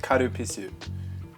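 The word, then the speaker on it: カルピス: in Japanese it's pronounced karupisu and then it does sound like something else but it's spelled but it's like with an L not a w so it's fine oh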